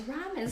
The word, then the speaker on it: ramen: it came wrong and the Japanese pronounce there are other elves more like are so it's ramen so there you go